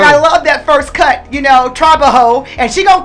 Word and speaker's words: trabajo: Trabajo. Trabajo. Okay. Yeah, so you I gotta roll your R a little bit.